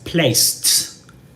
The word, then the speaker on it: placed: In the simple past, you add a D, right, in the spelling, but you pronounce that as placed, right?